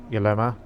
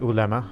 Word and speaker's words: ulema: this other influence from the uh dilemma uh the ulema i should say i found out the correct pronunciation um so it influences